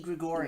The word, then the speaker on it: Gregorius: pronounced Didi Gregorius.